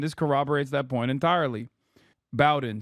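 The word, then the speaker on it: Bowdoin: Bowen, sorry, not Bowin. I always say it wrong.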